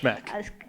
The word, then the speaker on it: Schmueck: It's pronounced Schmeck. Schmeck. It's pronounced Schmeck. You ignore the U, it makes perfect sense.